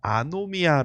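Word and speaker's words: ἀνομία: 그리서 헬라어로 보면요 어 발음이 어떻게 되냐면요 아노미아 거예요 아노미아 아노미 여러분 아노미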